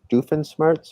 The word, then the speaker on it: Doofenshmirtz: awesome and he also has monogram and dr doofenshmirtz am i saying it right yep some custom